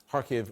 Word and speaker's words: Kharkiv: steady um blast in kharkiv or kharkiv harkev uh is how she is pronouncing it there and that just